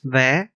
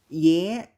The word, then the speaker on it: vé: Rượu, Another difference lies in the letter V, which is pronounced V in Northern Vietnamese, but in Southern Vietnamese it's Y, at least in casual conversation. For example, the word for ticket in Northern Vietnamese vé, and in Southern Vietnamese.